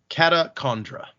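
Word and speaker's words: Catacendre: almost like condra but the first a is similar to the word fawn so put it all together it would be catacondra how do you get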